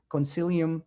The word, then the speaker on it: Concilium: He's currently president of, and Kirk, correct me if I'm mispronounced this, Concilium Consulting.